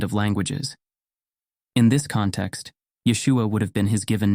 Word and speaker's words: Yeshua: Hebrew Yeshua is pronounced Yeshua this pronunciation reflects the linguistic nuances of the Hebrew language where the emphasis is placed on the second syllable the Aramaic form also